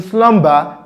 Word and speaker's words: slumber: For example, if you have a word like slumber, the B sound in slumber will be pronounced.